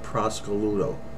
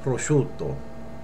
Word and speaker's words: prosciutto: though I've actually heard so I heard a woman ask for Italian ham in an Italian market and she said give me a half a pound of Prosecco Ludo you will never say that you'll say prosciutto okay we'll say it